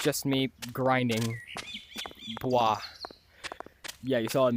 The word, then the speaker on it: Bwah: Bwah. Yeah, you saw it in the intro. It's spelled B-W-A-H.